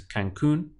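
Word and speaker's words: Cancún: similar it's just that Spanish has an accent over the U at the end and they have to do that really because the pronunciation is Cancun otherwise if they didn't have the accent will be tan they would stress the syllable before last as always so this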